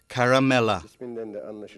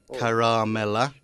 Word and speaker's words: Caramella: these two is Caramella as you can hear all the syllables have the same length none is longer or shorter than the others we should pronounce it rather carefully we shouldn't say caramella that would be wrong and Carmela would be wrong as well baby could you what shall we do we'll say caramella all the same stress